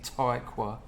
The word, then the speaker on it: Tykwer: German director Tom Tykwer. I bet that's how you say it, yeah. It's definitely Tykwer.